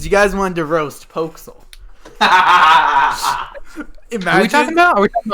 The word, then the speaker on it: Poxel: actually pronounced Pokesel, but everybody Pokesel. pronounces it Poxel or Pixel.